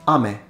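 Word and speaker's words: 雨: look at for example words with a short ah in Japanese like AME which means rain and compare it to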